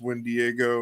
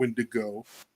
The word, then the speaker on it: wendigo: the wendigo okay um it's got a couple different ways you can spell it pronounce it and everything um in the southwest it's when Diego or when when daggio um up here in the Midwest we call a wendigo form and then over